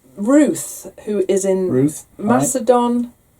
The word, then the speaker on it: Macedon: And it's Ruth, who is in Macedon. Macedon. I'm pronouncing that right? Like Macedonia.